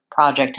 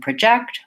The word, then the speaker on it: project: and record and so the rule is first syllable gets stress when it's the noun and second syllable gets the stress when it's a verb I do have a